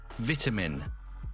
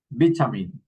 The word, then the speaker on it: vitamin: vitamin, Vitamin. Okay, look at this. The word the same, vitamin, but vitamin or vitamin. And there are many words like this one, many examples.